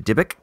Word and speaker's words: Dybbuk: a picture of the, how do you say it? Dybbuk? The Dybbuk? Yeah. The Dybbuk.